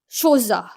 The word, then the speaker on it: Chola: It is not said Chola, but it is pronounced Shoza.